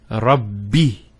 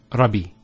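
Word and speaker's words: رب: also here it's and here rubby so it's alhamdulillah it's not Robbie so if I want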